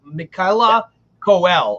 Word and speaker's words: Michaela Coel: I think her name is pronounced. I looked it up. Michaela Coel, I believe.